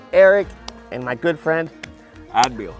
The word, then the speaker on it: Adbeel: and my good friend ad ad not ad yeah been been